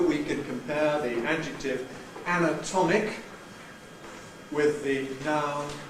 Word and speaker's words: anatomic: So we can compare the adjective anatomic with the noun anatomy.